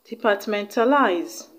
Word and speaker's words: departmentalize: departmental eyes departmental eyes the stress is on the second syllable from the end of the world which is on DTE departmentalized alright the option that